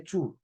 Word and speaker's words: tous: But for it to be an adjective, then we'll not pronounce the S. We'll just say two, okay?